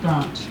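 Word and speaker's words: Branche: Last name is B as in boy, R-A-N-C-H-E, pronounced Branch.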